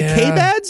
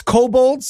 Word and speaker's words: kobold: And is it the K-Bads? Is that correct? Yeah, no, it's kobolds is how it's pronounced. Oh, it's kobolds. Actually. Oh, yeah, right. No. Like the creature.